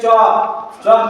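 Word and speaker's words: chalk: तीसरा सी एच ए एल के चौक में भी एल साइलेंट है क्योंकि एल के बाद क्या आया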